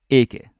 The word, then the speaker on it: ikke: And as some of you already guessed, this is ikke, right? Not ik. Now, the trick here is that in real life, we often pronounce it ik because we're lazy. I do it all the time, actually. If you pay attention, you say ik at the end.